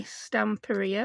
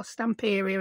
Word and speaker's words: Stamperia: These are the ones by Stamperia, or Stamperia as I call it. Yeah, I say it wrong.